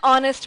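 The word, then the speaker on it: honest: एन ऑनेस्ट मैन। अब ऑनेस्ट मैन में एच फिर साइलेंट है, ओ का प्रोनाउंसिएशन है जो कि एक वॉवेल है, इसलिए आगे एन लगा है।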